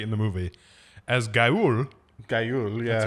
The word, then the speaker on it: Guile: Gayul, yeah. That's how you pronounce it. It's a Gayul.